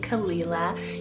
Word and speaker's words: Kalila: means Pearl kalila tell k-a-l-i-l-a khalila you could also probably pronounce it as kalila as well just depends on what you prefer and this one means